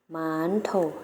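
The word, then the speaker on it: 馒头: นะ คะ มัน โถ ใน ภาษา จีน แล้ว ก็ จะ เอา เสียบ กับ คล้าย ภาษา ไทย นะ คะ แต่ เรา จะ ออก เสียง ยาว กว่า นิด นึง แล้ว จะ เอา เสียง ว่า หมา นทก หมาน ปก หมาน โถ่ นัก เรียน แล้ว ออก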